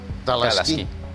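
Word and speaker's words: teleesquí: Doncs us diré que malament, perquè va amb dues es, tot i que es pronuncia /TaLaSKÍ/. Les dues es no es pronuncien, però s'escriuen.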